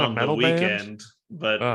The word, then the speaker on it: The Weeknd: Weekend, but Oh, it's, they spell it Weeknd, so it's Weekend to that me.